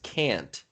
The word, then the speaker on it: can't: can't catch the ball we want to make sure that we pronounce that t because if you don't it sounds like both times you're saying can if we don't really put a little bit of emphasis on the t to make sure that